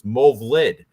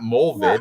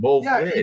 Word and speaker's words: Movlid: It's Movlid, not Molvid. Yeah, Movlid.